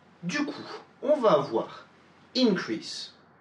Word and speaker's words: increase: Si c'est un nom, un adjectif ou quoi que ce soit d'autre, l'accent va être porté sur la première syllabe.